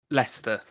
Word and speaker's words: Leicester: Red Leicester. Red Leicester. Is it spelled like stupid Leicester? The town name Leicester. It is spelled like the stupid Leicester. Like Midlands.